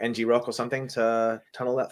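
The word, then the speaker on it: ngrok: a minute there um because I always pronounce it and Croc uh so I did too but um the folks I work with call it NG Rock so I just assumed I got it wrong it makes sense to be NG Rock because you have rock at the end right um cool yeah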